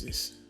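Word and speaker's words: dis: Also, the TH factor in English doesn't apply in pidgin English. For example, where you have TH this or this, that pronunciation is not used in pidgin. Instead, it is pronounced as a D.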